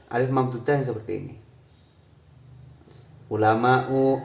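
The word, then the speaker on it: علماءُ: Ulama'u, auliya'u kan diakhiri alif hamzah ini namanya alif mamdudah. Nah, makanya di sini tidak dibaca ulamaun, tidak, tapi ulama'u.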